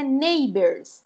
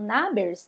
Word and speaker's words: Nabers: a sonda nabers né A então a pronúncia neybers tá bom alguns colegas tava falando na berço né mas aí neybers ela